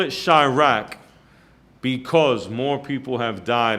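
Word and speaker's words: Chiraq: It's a Chirac. It's C-H-I, rack. And they spell it like Iraq, but instead of the I, it's Chi, C-H-I.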